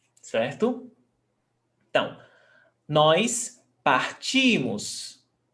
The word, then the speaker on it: partimos: Então, nós partimos. Stressed syllable before last. Partimos. E vocês partem.